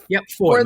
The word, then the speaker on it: Foy: Is it just Foy? I'm going to look that up. She was. Foy.